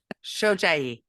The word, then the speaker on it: Shojai: Shojai. Yeah. Shojai. Very good. I wrote it down phonetically.